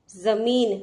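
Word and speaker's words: ज़मीन: जमीन, देखिए नुक्ता शब्द है, ज के नीचे नुक्ता बिंदु लगा हुआ है, तो उसका उच्चारण हम कैसे करेंगे? जमीन।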